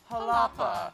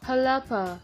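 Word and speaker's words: Xalapa: pronounce it it's like starts with an X and it's got a lot of like vowels and things so I Googled it it's according to this video halapa halapa Hala this cat in halapa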